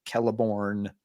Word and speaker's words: Celeborn: Names that begin with C, Tolkien always meant for them to be pronounced with the hard K sound. So like Celeborn and Cirith and such.